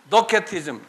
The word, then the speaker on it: Docetism: It sounds like a K. Docetism.